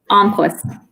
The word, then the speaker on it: Almquist: Yes, Almquist.